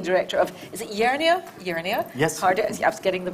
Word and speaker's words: Jernia: Jernia? Yes. I was getting the pronunciation right.